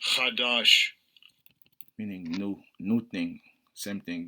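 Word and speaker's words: חדש: word is hadash hadash let's see how it's pronounced Strong's AG 239 kadash Kash kadash meaning new new thing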